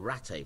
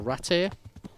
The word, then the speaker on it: Rattay: Or Rattay. I'd pronounce it Rattay, but I think they say Rattay.